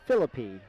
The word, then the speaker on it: Philippe: We've been saying his name wrong all night. The beauty of being on this side is I was able to ask some of the parents. So, it's Philippe.